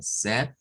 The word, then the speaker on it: said: Que se pronuncia como said. El diptongo ahí suena a e. Said.